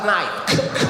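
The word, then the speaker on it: knight: really is uh yes that would be K night night this is what she told me in front of the whole class she said the K is silent I said then take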